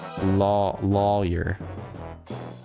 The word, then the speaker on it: lawyer: Lawyer. Lawyer. Like See, literally law then your lawyer.